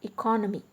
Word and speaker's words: economy: economy economic econometrics so in case of economy the stress is on co e co no me the stress is on the third syllable whereas when it comes